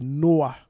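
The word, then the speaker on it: נח: Il dit c'est Noah. Noah.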